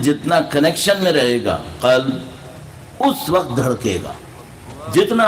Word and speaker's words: قلب: یہ قلب دھڑکتا، جس کو پنجابی میں قلب کہہ دیتے ہیں، جس کا مطلب کتا ہوتا ہے. تلفظ صحیح رکھو، قلب نہیں ہے قلب ہے.